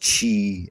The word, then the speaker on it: Qi: The Qi is the breath, the life breath that penetrates it, the Oregon, or some call it Qi. It's pronounced Qi in Chinese.